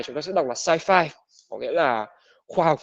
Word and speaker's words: sci-fi: ta sẽ đọc là sci-fi, có nghĩa là khoa học viễn tưởng. Science fiction thì viết tắt chúng ta sẽ đọc là sci-fi, còn đọc rõ ra sẽ là science fiction, phim khoa học viễn tưởng.